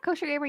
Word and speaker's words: Koshergamer: Yeah, Koshergamer, yeah, and Celia.